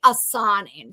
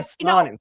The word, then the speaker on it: Asanin: It's actually Asanin. So, but Asanin.